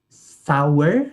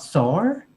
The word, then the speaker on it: sour: a one about pronunciation we pronounce sour not sore and we pronounce um protege not product prodigy i heard uh those